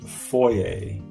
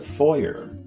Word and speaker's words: foyer: Chances are you say foyer. You know, it sounds all French and fancy, but it's a foyer.